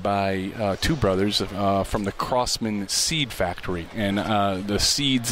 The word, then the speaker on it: Crosman: Crossman so you'll get it you'll get it pronounced both ways it is Crossman cause there are actually some large customers of